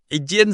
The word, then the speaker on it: 斤: Qián sounds exactly like jean, like blue jeans.